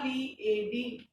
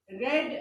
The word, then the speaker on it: read: सो आई रेड, READ, read a fairy tale last night.